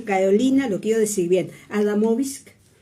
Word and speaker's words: Adamovsky: Y lo tenemos con Carolina, lo quiero decir bien, Adamovsky. O sea, suavecito lo decimos. Se puede no pronunciar la B, Adamovsky, perfecto.